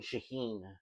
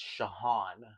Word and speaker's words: Shahan: I'm from the bottom of my heart because I've been saying Shaheen and Shaheen is not right. It's Shahan.